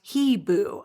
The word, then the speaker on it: hibou: In French, hibou, pronounced hebou, so I mispronounced it.